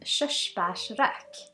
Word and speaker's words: Körsbärsrök: release this is a swedish single malt called shushbash rak do you want to try and pronounce it it's called shush bashrak which means